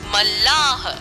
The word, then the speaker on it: मल्लाह: पर नहीं कहा कि मल्लाह शब्द में आधा लॉर्ड पूरा लोग का प्रयोग किया गया है क्योंकि मल्लाह बोलने में लोगों का उच्चारण दो बार होता है एक बार कम और एक बार ज्यादा इसी कारण मल्लाह शब्द